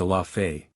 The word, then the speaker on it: Allah Foi: I.e. Allah Foi, which the people pronounce Allah Fay.